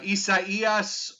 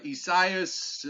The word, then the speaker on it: Isaias: to try to pronounce uh isaias or isaias depending on who you go with i think those are the two acceptable ones uh i like mine